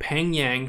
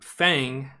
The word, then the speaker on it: Pheng Yang: a video talking about Peng yang who I've been informed that the name Fang was the improper pronunciation of it but Peng Yang